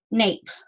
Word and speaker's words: nape: But if we add an E at the end of each of those, even though that E is silent, it's the boss, and it is now making each of those first vowels say its real name. So this is the long A, the vowel A, nape.